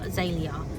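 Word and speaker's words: Zaelia: I think it's Neela actually, because I think it's N-I-L-A, but pronounced Neela. And then the other daughter, Zalia, so spelled Z-A-E-L-I-A.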